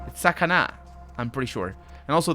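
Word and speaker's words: さかな: See, that's pronounced in English sakana, but it's sakana. I'm pretty sure. And also the S has got a very specific Japanese way of saying the S.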